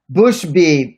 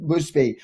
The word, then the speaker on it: Bushby: put your names so bushby thank you that's how you pronounce sasha's name bushby all right so owls